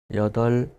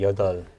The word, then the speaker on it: 여덟: Yeah, we don't really pronounce 여덟, 네. right? So 여덟.